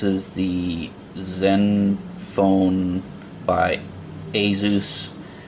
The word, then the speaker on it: Asus: This is the Zen phone by Asus. Some people have said that it's pronounced Asus, like the end of Pegasus.